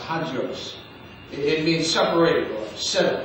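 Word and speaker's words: ἅγιος: And the word holy in the Greek is pronounced hagios.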